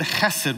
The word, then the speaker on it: hesed: mercy is the word Hesed we've talked about that word around here before it's that word you got to kind of do that little fluttery thing in your throat to to say it right it's the word hesed